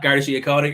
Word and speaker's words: Garda Síochána: How do you pronounce Garda Síochána? Exactly like that, Garda Síochána.